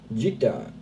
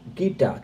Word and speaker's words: Gita: Gita, like gift. Gita, thank you so much.